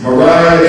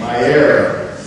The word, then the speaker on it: Mariah: We better find out that this is Mariah Jefferson, the third grade in Roslyn. I told you correctly, I said it wrong. Go ahead. Myera.